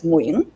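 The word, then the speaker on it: Nguyễn: Your last name is Nguyen, but it's a dấu ngã, and most Southerners can't even make the dấu ngã.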